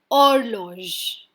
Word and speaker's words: horloge: In French, H is a silent alphabet. That's why any word starting with H, we are not going to pronounce the H. So, horloge.